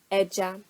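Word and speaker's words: ẹja: The Yoruba word that has is eja, eja. Notice eja doesn't have any left or right intonation marks, but does have a mark underneath that E.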